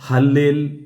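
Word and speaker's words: הלל: കൊടുത്തിട്ടുള്ളത് ഹല്ലേൽ എന്നത് മാത്രമാണ് ഈ ഹല്ലേൽ എന്നുള്ള പദത്തിന്റെ ഉച്ചാരണം പോലും നമ്മൾ ഉപയോഗിക്കുന്നത് അതുപോലെ അല്ല കാരണം അതിനകത്ത് ഈ ഹൽ എന്ന് ഉപയോഗിക്കുന്നിടത്ത് തന്നെ കെഎച്ച് അല്ലെങ്കിൽ സിഎച്ച് എന്നുള്ള ആ ഖന് എന്ന് പറയുന്ന പദം വരുന്ന രീതിയിൽ വേണം ഹീബ്രുവിൽ അത് ഉച്ചരിക്കാൻ മലയാളത്തിൽ ഹല്ലേലൂയ എന്ന് പറയുന്നത്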